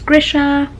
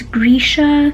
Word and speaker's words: Grisha: This whole time, like I said, I thought it was Grisha, it's Grisha, and I thought it was Genya, but it's Genya.